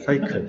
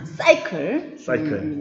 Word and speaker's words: 사이클: 근데 제목은 사이클이에요. 사이클 맞습니다. 네, 사이다처럼. 예. 전국에 계신 경상도 분들은 발음에 조심하시면서 사이클. 예, 맞습니다.